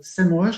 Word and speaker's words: SEMrush: Vous avez un outil qui est très puissant qui s'appelle SEMrush. Alors, je ne sais pas si je le prononce très bien. Si, c'est ça, SEMrush.